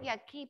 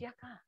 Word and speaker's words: yucca: Not yucky, Paul. I said yucca.